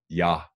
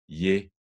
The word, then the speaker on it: jeg: But most times it's not, and that therefore it's just pronounced ja, ja in standard Danish, rigsdansk, ja. But some Danes, they have regional dialect pronunciation of that word, and they might pronounce it differently than you are used to. In Fyn and Jutland, you might hear the forms je or je. And in Bornholm, you might hear the form ja.